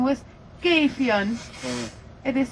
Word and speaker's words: Gefion: It's named after a goddess in the Nordic mythology, and her name was Gefion. It is spelled G-E-F-I-O-N. We pronounce the G in a different way.